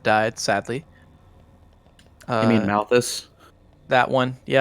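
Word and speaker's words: Malos: it up the world tree uh jyn and Malice both have died sadly uh you mean malus that one yep I promise in my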